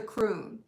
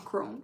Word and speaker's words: crone: Maiden, mother, and the croon, each with wisdom of her own. So I'm saying it wrong, crone. I always say those wrong. Let me do it. Okay, blah, blah, blah. It needs to rhyme.